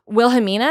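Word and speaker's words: Wilhelmina: was like okay cool like i got like wilhemina is that how you say it yeah i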